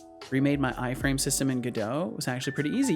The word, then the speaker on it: Godot: Godot. Capital equals stress syllable. Godot. Godot. I see. I kind of lazily pronounce it as Godot. I just kind of like merge the words.